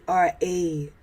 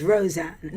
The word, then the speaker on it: Rozan: Okay, so my name is pronounced as Rozan. Rozan. So it's actually Razan, despite what it's known as today as Rozan, Rozan. And that was a change made in my very early writing days, which I unfortunately accepted